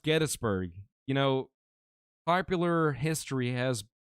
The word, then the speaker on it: Gettysburg: And it is pronounced Gettysburg.